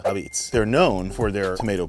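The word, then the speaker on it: Apizza: The A in front of pizza is how we pronounce it, not a pizza, Abits.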